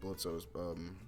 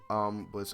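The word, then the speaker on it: Blitzø: My brain just automatically wants to pronounce the O in his name.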